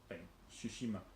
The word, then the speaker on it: Tsushima: Tsushima, it's got a T at the beginning. Right, but you don't pronounce the T. Whatever, fine. Tsushima.